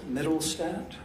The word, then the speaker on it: Mittelstadt: case okay he swears my name is middlestadt and the last name is spelled m-i-t-t-e-l-s-t-a-d-t and my occupation is i'm a